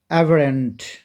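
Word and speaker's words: aberrant: আমি দিয়েছি খুবই মজার একইভাবে এটার উচ্চারণটা কি এভারেন্ট এভারেন্ট বানানটা দেখতে হবে কিন্তু কারণ একটা ওয়ার্ড শুধু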